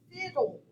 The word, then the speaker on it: fiddle: next one we have fiddle fiddle bracket over that final stable syllable short i sound cross out that quiet e there at the end and it's fiddle fiddle so we're going to accent the first syllable next batter batter okay